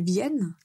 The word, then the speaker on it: viennes: tu viennes avec moi la différence quand vous prononcez le verbe correctement c'est que la lettre N va être double donc on va prononcer clairement ne pas nasal mais ne j'aimerais que tu viennes avec moi d'accord alors aujourd'hui j'ai